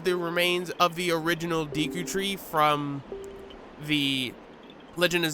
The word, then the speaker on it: Deku: talking to is the Deku Sprout. And I know I'm already pissing people off because I'm calling it Deku and not Deku, because technically in Japanese it's Deku, but I've always called it Deku.